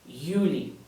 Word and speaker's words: Juli: Remember that the letter J makes the Y sound. Therefore, this will be Januar, Juni, Juli.